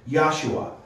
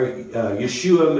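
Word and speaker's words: ישוע: You might also hear it pronounced Yahshua, or Yeshua Mashiach. That's Jesus Messiah.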